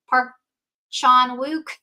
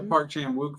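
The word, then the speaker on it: Park Chan-wook: Park Chan Wuk.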